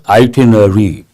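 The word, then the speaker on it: itinerary: usually we say itinary we pronounce this word as itinary but look at the spelling i t i n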